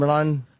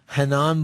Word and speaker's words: Renan: you say his name, Renan? Hanan Barao. Henan Barao. I was way off. Portuguese, the R is an H.